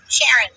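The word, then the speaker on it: Sherron: S H E R R O N. Sharon. It's spelled different, but it's Sharon.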